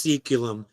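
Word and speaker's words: saeculum: do know it was it's pronounced seculum because of what I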